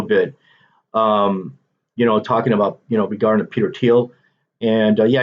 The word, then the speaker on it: Thiel: Talking about regarding Peter Thiel, and yeah, his name is pronounced Thiel, not Thiel, but whatever.